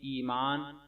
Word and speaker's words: ایمان: اور اعراب: ایمان فاطمہ، الف یا زیر ای میم الف ما نون ساکن ایمان، فا الف زبر فا